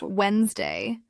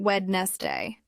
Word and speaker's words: Wednesday: always match for example Wednesday is pronounced Wednesday not wedness day vegetable is pronounced vub